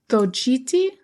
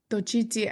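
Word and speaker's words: Xochitl: It begins with an X, so it's very hard. I think it's Tochiti Gomez. That sounds good. Tochiti.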